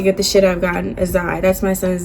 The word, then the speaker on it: Azai: Azai. That's my son's name, by the way. That's how you pronounce it. Azai.